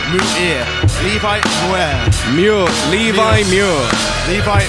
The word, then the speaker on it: Muir: But tonight he's going one-on-one with the debuting Levi Muir, who I'm seeing for the first time in about 4 years.